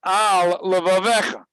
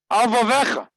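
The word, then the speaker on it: על לבבך: You know, you can have al levavecha, but you have al vavecha. Al levavecha. There's two lamets, but if you can, the two words could collide, and then you'll read it al vecha, al vavecha.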